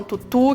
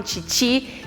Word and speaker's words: tutu: Ela tem um nome meio complicadinho, então algumas pessoas falam tutu, que é a maneira que se escreve, outras falam titi, e existem vários tipos de titi.